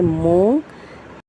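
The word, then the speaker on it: مونگ: चे अलिफ चा वाव लाम वल चावल मीम वाव मु नून गाफ नक लेकिन नून साइलेंट है। मूंग जीम की आवाज ज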